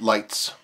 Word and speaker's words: Leica: Then how do you pronounce that? Leets? Lights? Lights.